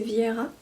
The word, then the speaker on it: Vera: Pour le tricot, je n'ai pas d'ouvrage terminé à vous montrer puisque je suis encore sur mon châle Vera, prononcé Viera, pardon.